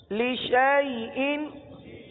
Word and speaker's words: لِشَيْءٍ: کا نشان آ گیا، الف ختم ہو گیا، الف کو نہیں پڑھنا، شین کو یا کے ساتھ ملا کر پڑھنا ہے۔ اب مثال کے طور